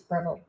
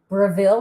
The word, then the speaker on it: Breville: oh cosmetics anyhow um she tells me it's breville i'm very incorrect in my pronunciation but uh i i'm so entrained saying i've like really gotten that in my brain that it's bravil that's what i keep pronouncing all right i'm talking